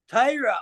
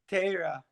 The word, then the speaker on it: Torah: It's like the way that Ashkenazis say Torah, how Sephardi would say it.